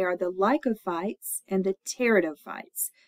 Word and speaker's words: pteridophytes: And they are the lycophytes and the pteridophytes. That P is at the beginning of the word pteridophyte is silent.